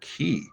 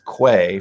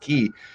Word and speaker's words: quay: and thought it was quay for years right and it found out that it's pronounced ki it's essentially the same thing as a k-e-y but can you imagine